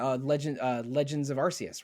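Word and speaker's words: Arceus: And then, you know, CE communicates to me a a soft C. So, Arus is how I've always said it or maybe maybe Arus is is more appropriate.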